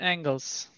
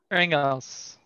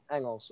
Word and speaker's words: Engels: Hier spricht man Turks and Angles. Engels mı? Engels mı? Engels. Engels.